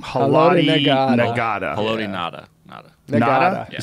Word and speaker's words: Haloti Ngata: boy, say that name, Haloti Ngata. Haloti Ngata. Nada? You say Nada? I think it's You don't pronounce the G? You don't pronounce? Okay. The G is silent. Haloti Ngata.